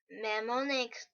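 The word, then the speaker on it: mnemonic: for example use use memonic device to make memorization easier the morning the initial m is silent are Cur of any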